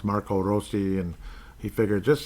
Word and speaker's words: Marco Rossi: Roso rosi Marco Rossy I know everyone calls it Marco Rossi and then they say how it's correctly pronounced Marco rosi and he figured just